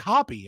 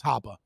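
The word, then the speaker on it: Hoppe: in and be like hoppy and it's like that's not how you say his name but it's German it's haba so recently I've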